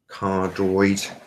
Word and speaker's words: cardioid: So this is a normal speaking voice, 100% gain, cardioid, C-A-R-D-I-O-I-D.